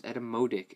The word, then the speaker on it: Etymotic: Um, so the Edetomotic ER4S, Edomodic as they pronounce it, I believe.